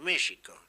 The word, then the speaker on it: México: lo curioso es que en México escriben con x pronuncian con j tendría que decir México pero claro ellos pensaran